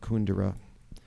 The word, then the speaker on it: Kundera: just was reading um Milan Kundera or as he pronounces it kun dura who knew as his